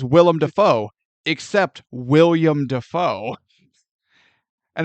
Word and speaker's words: Willem Dafoe: Everyone says Willem Dafoe, except William Dafoe. And It's Willem. apparently he's too nice. No, it's spelled Willem. He pronounces it William, like a normal person.